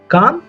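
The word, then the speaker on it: calm: होता है पुर सकून यहां पे जो एल है वो साइलेंट है कैसे पढ़ेंगे हम इसे काम पुर सकून रात पुर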